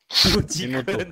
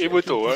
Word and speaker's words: Emoto: Emoticon. Non, c'est Emoto.